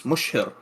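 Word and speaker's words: Mushir: So he had sent this letter with Qais ibn, it's spelled here M-U-S-A-H-R, but I've been told that it's Mushhir, is the way it should be pronounced.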